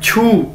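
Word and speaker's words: 去: इसी तरह हमारे पास एक वर्ड है छू, क्यू यू, छू, चाइनीज के अंदर हम क्यू को छे के तौर पर प्रोनाउंस करते हैं, ठीक है, इसकी प्रोनाउंसिएशन क्या है, छे, तो ये क्या बन गया, छू, जैसे हमने देखा था सात के लिए हम क्या बोलते थे, छी, इसी तरह छू, छू मतलब टू गो,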